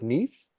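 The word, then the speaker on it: Neith: yeah it is uh how do we pronounce her in English is it Neath oh or NE I think it's Neath right Neath is what I've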